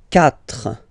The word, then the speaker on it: quatre: Quatre, quatre, okay. So remember that even if you get this U vowel here, basically you don't pronounce it, because that's the rule in French.